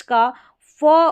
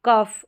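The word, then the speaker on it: cough: लेकिन GH का फ उच्चारण भी होता है, जैसे कि लाफ, कफ और इनफ।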